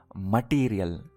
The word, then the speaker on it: material: See the pronunciation? Material, not material.